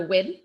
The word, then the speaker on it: Nguyen: I'm also inspired by Amanda Wynn, which is spelled Nguyen. So not necessarily how you would think it would be pronounced, perhaps.